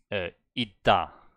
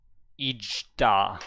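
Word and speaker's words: 있다: I'm just showing it so that you see why I say, in this case, I say itta, itta, and not ijda or so. Ijda. That's not that doesn't Itta. exist. It's itta. It's pronounced like a D.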